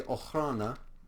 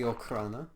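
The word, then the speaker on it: Okhrana: First, we have the Ochrana, or the Okrana, depending on how you decide to pronounce it, though probably both of those pronunciations were wrong.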